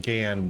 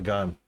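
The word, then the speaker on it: Ghan: Gone with the wind that it's actually pronounced GAN, but it's the gun.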